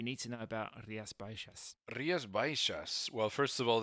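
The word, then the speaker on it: Rías Baixas: Rias Bishas. Well, first of all, that you say it like Riasbishas that the X in the Galatian language.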